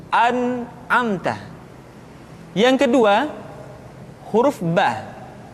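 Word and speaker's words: ب: Yang kedua, huruf Ba. Huruf Ba dikeluarkan dengan cara merapatkan kedua bibir kita. Ba, Bi, Bu. Ketika mati, maka terdengar suara pantulan. Bab. Kesalahan sering terjadi, seringkali Ba lupa untuk dipantulkan suaranya.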